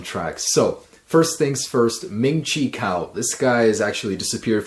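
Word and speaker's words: Ming-Chi Kuo: And man, I pronounced his name wrong again. It's Ming-Chi Kao.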